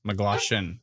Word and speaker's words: McGloshin: Is it Glosh, right? So it's McGloshin? Yep. McGloshin for sure.